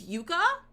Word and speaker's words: yucca: It's not yuck, it's Yucca? Harbor spiders, they harbor spiders and stab you.